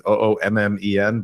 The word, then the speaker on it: Oommen: But it's with a hard PH. Oomen is Oommen, but literally I have open DMs.